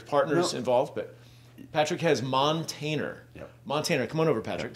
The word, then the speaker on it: Montainer: it looks like dictionaries like montaner pronounced montaner yeah the definition is is